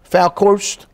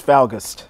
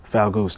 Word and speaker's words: Falgust: Falkhorst? See, that's why. Okay. End of topic. It's Falgust. Okay. The correct pronunciation would actually be Falgust.